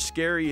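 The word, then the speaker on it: Scarry: if it's not true richard scary isn't actually very scary and yes that's how his name is pronounced instead he was the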